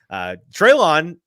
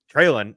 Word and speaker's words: Treylon: So Treylon is not it. Treylon is it, and Treylon should correct us more often if we're mispronouncing his name.